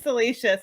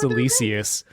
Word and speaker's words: Salacious: Toy Migos, and someone asked me how to pronounce salacious. I'm like, Salacious Crumb, and you were saying Silicious.